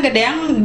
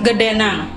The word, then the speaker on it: gedeang: Nah, kadang-kadang gedeang bisa juga diucapkan gedenang. Ang dan nang sama saja.